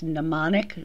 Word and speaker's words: mnemonic: also referred to as mnemonic devices and it's pronounced mnemonic the first m is silent and there are many